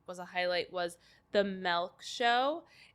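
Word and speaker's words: Melke: a highlight was the milk show it's spelled m-e-l-k-e but the reason it's called milk is it's actually like the word milk but she like growing up pronounced it milk so I just thought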